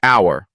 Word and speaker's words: hour: your confidence words like hour honest and honor often trip people up remember the H is silent practice saying an hour